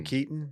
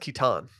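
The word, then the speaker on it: Keaton: knows from the founder Michael Michael Keon yeah why know a WR pronounced kitan stop okay um she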